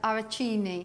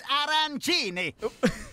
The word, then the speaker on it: arancini: big as my house I pronounce my starter arachini very Italian and also slightly wrong it's arancini all right yeah the